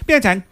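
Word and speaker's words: Pyeongchang: Pychang.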